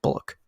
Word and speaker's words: Bulloch: So yeah, you got to say rest in peace to hopefully I'm saying the last name right, but it is pretty sure it's pronounced Bullock. So rest in peace to the original Boba Fett.